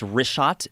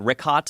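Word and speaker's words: Richat: In the first couple I just want to say it's Rishot. I used to call it Rickot. I was mispronouncing it.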